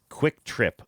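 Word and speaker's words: QuikTrip: Taylor says, "There are two different gas station chains chains with names that are pronounced the same but spelled differently. Quick Trip with a Q qu u i k trip is awesome.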